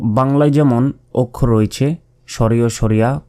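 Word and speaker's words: ثاء: তা এরপর সা এই অক্ষরটি পড়ার সময় অবশ্যই জিহবা বের করে উচ্চারণ করতে হবে। জিহবা বের করে যদি উচ্চারণ না করেন তাহলে কিন্তু এই অক্ষরে উচ্চারণ হবে না। এটা মনে রাখবেন। সা জিহবা বের করে জিহবার আগা সামনের উপরের দুই দাঁতের আগার সঙ্গে লাগিয়ে এই সা অক্ষরটি উচ্চারিত হয়।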